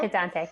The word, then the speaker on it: Mercadante: She was a soloist at the, you'll have to tell me how to say this, Mercadante Clarinet Festival? Mercadante, yeah.